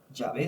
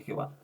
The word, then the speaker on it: Yahvé: Solamente quiero decirle que aunque nosotros nos referimos mucho como Jehová en hebreo, el que más se acerca es Yahé realmente. Eh, quizás es una pronunciación más acertada Yahvé que que Jehová.